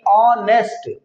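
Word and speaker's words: honest: आ रही है नेस्ट नेस्ट नहीं ऑनेस्ट ऑनेस्ट इसलिए यहां पर एच साइलेंट है तो ओ क्या है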